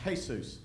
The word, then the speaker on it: Jesus: hunting for Jesus actually that's not the Jesus the religious Jesus that's a actually that would be pronounced hay-soos and and and he